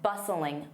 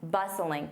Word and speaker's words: bustling: Notice that t is silent. Bustling. Bustling.